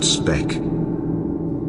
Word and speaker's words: Sebek: His name Sebek is the crocodile, originally pronounced Spek.